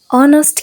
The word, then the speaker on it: honest: pronunciation එකේදී අපි h එක silent කරලා honest කියලා තමයි pronounce කරන්නේ නේද?